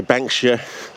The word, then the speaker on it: banksia: nice color and yeah we say banksia it's spelt banksia but australians say they put australians seem to extend words we shorten words we extend the word like it's stevo you know davo all that sort of thing so we shorten things yeah and then we also lengthen words we add extra syllables in you know like as i said we go from banks here and we say bank ship with a it's a